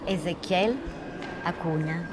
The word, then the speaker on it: Ezequiel Acuña: Él se llama Ezequiel Acuña. ¿Es correcto? Sí. Lo pronuncié bien, porque sí.